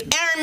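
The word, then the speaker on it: Aeron: insecure um I uh my name is Aaron it's spelled a little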